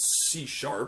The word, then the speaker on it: C#: And some of you, even if you're not musical, may know that from the language that Microsoft invented called C#. That's how you pronounce this thing, which is a language